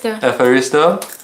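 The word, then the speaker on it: ευχαριστώ: Efharisto.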